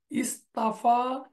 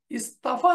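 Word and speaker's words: اصطفى: আমরা দেখানোর চেষ্টা করলাম যেমন সফা ইস্তাফা ইস্তাফা না হয়ে তার উচ্চারণটা হচ্ছে ইস্তফা তারপরে দোয়াদ দয়াররা ইততাররা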